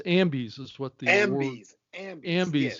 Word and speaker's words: Ambies: It's AMBIES is what the AMBIES.